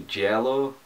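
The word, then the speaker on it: giallo: sub-genre I've got into I'm quite into the jello a sub-genre for pronouncing that correctly that's like the Italian thrillers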